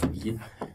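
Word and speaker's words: Baer: Ralph Beer. Englische Aussprache.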